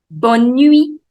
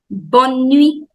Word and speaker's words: Bonne nuit: Bonne nuit. T is silent. Bonne nuit.